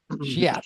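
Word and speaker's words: Scheat: Shiat. Shiat. That's right. Just put it 2 minutes, two guys, syllables.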